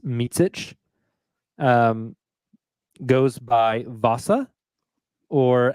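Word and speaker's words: Micić: vasilia meic it is confirmed last name is pronounced MIT um goes by Vasa or as kenri Williams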